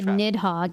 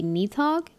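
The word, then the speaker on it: Nidhogg: like Final Fantasy 14 when we say nidhog is it actually supposed to be Neath hog wow been saying it wrong my whole life um okay so let's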